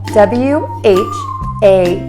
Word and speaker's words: what: word what is spelled w-h-a-t to say this word correctly think of only three sounds we have a silent letter in this situation the h is not pronounced so the word is